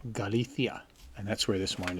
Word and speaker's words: Galicia: we pronounce that name that c before an i is pronounced like a th so you may say galicia spaniards from spain they say galithia and that's where this